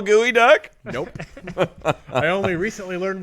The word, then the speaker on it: geoduck: Can you spell gooey duck? Nope. I only recently learned what that is. You wouldn't even pronounce it gooey duck if you knew how it was spelled.